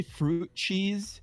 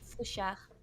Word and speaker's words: Fruchard: you just say fruit cheese? Fruit cheese. Like cheese, you said? The proper way to pronounce my last name is Fruchard.